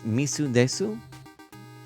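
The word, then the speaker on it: 水です: ah okay it's water in Japanese nice nice misu Desu nice that's how you say it very cool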